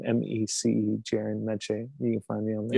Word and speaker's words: Mece: yeah um so j-e-r-i-n last name m-e-c jaren menchie you can find me you have to pass